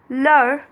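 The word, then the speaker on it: leur: So the pronunciation of all three is same, but the spelling of singulars and plural is different. So for masculine masculine singular and feminine singular, lur is L-E-U-R, lur.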